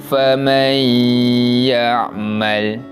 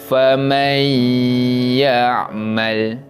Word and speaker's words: فَمَنْ يَعْمَلْ: Nampak cara bacaannya, kita memasukkan bunyi bacaan nun mati kepada huruf selepasnya. Huruf selepasnya yang huruf ya, maka mim baris atas tu masuk pada huruf ya dan dibaca dengan bacaan dengung.